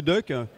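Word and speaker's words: DUKW: ce qu'on appelle le Duck duukw que finalement on prononce Duck comme canard et ça tombe bien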